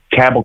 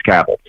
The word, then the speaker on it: Cabell: Ohio River here, Huntington, Cabell County, West Virginia. If you were saying cabell, you're saying it wrong. It's cattle anyway.